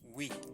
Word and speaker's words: oui: Let's pronounce yes and no in French. Oui.